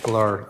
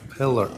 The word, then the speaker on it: Pillar: Detective Polar. Uh on I always say your name wrong. Pillar. Pillar.